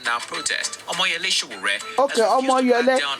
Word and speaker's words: Omoyele: protest, Omoyele Sowore, okay, Omoyele, that name I could not pronounce well. It's Omoyele.